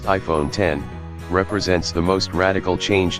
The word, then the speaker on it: iPhone X: the next 10 years the iPhone X pronounced iPhone 10 represents the most radical